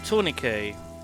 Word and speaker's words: tourniquet: Tourniquet, that's how you pronounce it.